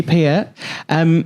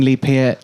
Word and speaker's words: Peart: We're back with Lee Peart. You do have... You say my name right, by the way. I remember you always saying Lee Peart. Peart like as in Fiat, yeah.